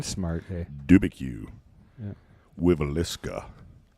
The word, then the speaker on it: Dubuque: How do you pronounce this? Is it Dubuque, Iowa? And you're making fun of me. It's Dubuque.